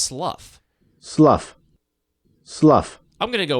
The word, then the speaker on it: Slough: I pronounced it slew a couple of times because it's spelled like through, but it's...